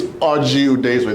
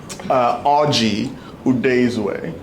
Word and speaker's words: Oji Udezue: My name is Oji Udezue. This is how to pronounce it phonetically. Oji Udezue.